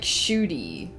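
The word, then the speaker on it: Ncuti: screen real estate unfortunately it's pronounced like shooty so that there's no n at the beginning of it I don't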